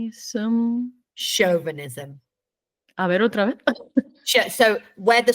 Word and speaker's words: chauvinism: what is it let's see if I can pronounce this right shm chauvinism so where the stress goes nod your head